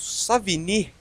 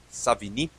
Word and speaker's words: Savigny: uma ideia dando prosseguimento savini frederich C Von savini que apesar do seu nome ter um sotaque uma pronúncia afrancesada por assim dizer ele era alemão ele no final do